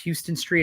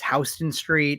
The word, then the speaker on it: Houston Street: I mispronounced Houston Street. Apparently it's Houston Street.